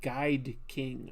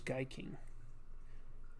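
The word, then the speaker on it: Gaiking: really loved Guy King, which I mispronounced as Guide King. I always thought that that's what it was called. Guide King. But it was Guy King.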